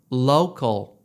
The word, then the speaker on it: local: 때 말하는 로컬 이구요 한국에서 로컬이라고 하죠 컬 아닙니다 영어식 발음은 low call locall locall이에요 그래서 한국에서 사실 때는